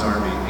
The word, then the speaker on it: Derby: We shot it in Derby, it's spelled Derby, but over there they pronounce it Derby, England.